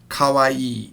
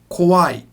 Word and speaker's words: kawaii: by being kawaii now notice Kalwa e has two E's at the end of it so it's Kahwa e e kawaii here's the problem a lot of people mess this up they say it wrong and it sounds like this qui qui means scary so they will look